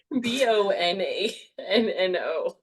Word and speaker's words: Bonanno Pisano: That's spelled B-O. Bonano? That sounds like Bonanno.